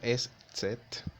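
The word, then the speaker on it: ß: en la primera elección se pronuncia tal como lo acabo de decir es set pero se pronuncia a la hora estar en una palabra como una simple s por ejemplo house en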